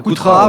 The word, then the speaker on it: Coutras: On dit le S ou pas Coutras Coutras, ou Coutras. C'est Coutras, ouais.